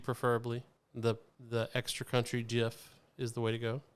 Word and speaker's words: Jif: the the extra country gif is the way to go if possible does it pronounce gif no gif it's j-i-f oh yep mom's like